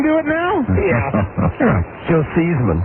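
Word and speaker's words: Theismann: His real name is Seesman. Yeah. Yeah. He actually changed the pronunciation of his name so that it would rhyme with Heisman. All right. When he wanted to win the Heisman trophy.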